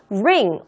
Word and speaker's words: ring: ring 발음하실 때 주의하시고요. ring 하고 발음하시면 안 됩니다. R과 L의 차이점은 꼭 주의하셔서 발음하셔야 되는 거고요. ring, R이니까요. 혀가 입천장에 닿으면 안 되는 거예요. 혀를 안으로 최대한 이렇게 굴려주시면 되는 겁니다. ring. 지금 여기 혀 모양이에요. 혀 모양. ring. ring finger. 그렇게 발음해 주세요.